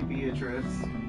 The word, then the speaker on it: Beatrice: was like really adamant that wasn't how you pronounced it. Idiot! What's up, Gary? Definitely Beatrice.